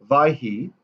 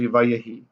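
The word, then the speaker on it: ויהי: And it was, but you still pronounce it as if the dagesh is there. Vayehi. We don't say vayhi, we say vayehi, right?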